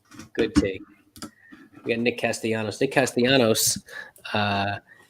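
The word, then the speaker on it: Castellanos: castellano stay castianos uh would like his two l's to be pronounced the right way but uh his mom won't allow it his mom called major league baseball and says you better not pronounce the double l oh some high cheese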